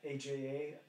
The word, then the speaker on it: Aja: How do you say that? AJA. Aja. Aja.